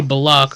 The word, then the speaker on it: Bullock: Even though betting the Knicks tonight, you would have walked away with something because Reggie Bullock fucked us and then unfucked us.